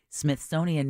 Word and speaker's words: Smithsonian: you're going down you're saying Smithsonian as if it's Jimmy Smith's owns it Smith sonian there you go Smith okay authenticate yeah